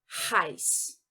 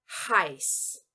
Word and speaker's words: heiß: Esta letra que eu marquei aqui em azul é o SZ, que aqui nós vamos pronunciar com som de S apenas. E o H aqui em preto nós vamos pronunciar também. Por quê? Porque este H ele está iniciando uma nova palavra, tá?